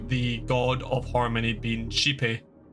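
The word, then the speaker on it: Xipe: god of Harmony being chepy it's spelled x i p you would think it's shap it's like I've heard people call it sheepy like G like XI then PE then sheepy like two things back to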